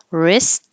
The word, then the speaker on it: wrist: hear the final K wrist forget about the W and you don't hear the T wrist and wrist watch everybody